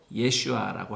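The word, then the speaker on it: ישועה: 나라를 세우셨습니다 그리고 4절 구원 히브리어로 예슈아라고 합니다 예수님의 이름을 히브리어로 발음하면 예슈아입니다 그래서 우리말 성경에서 사절을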